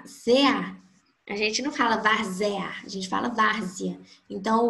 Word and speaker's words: várzea: Olha só, na palavra várzea, os EA, ZA, a gente não fala várzea, a gente fala várzea. Então, o E ali vai ter um som de I, representando uma semivogal, e o A vai estar sendo, como ele já é mesmo, uma vogal.